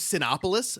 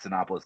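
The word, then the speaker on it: Cinépolis: to even pronounce this I thought it was copoulos but it's it's c i n p o l i s I I lived in Southern California forever I called it synopis the entire time so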